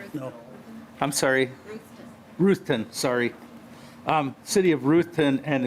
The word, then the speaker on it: Ruthton: Ruthton, sorry.